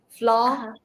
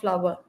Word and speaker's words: flower: It's not flower. Fla, two syllables. Fla, one syllable. It's all these words have only one syllable.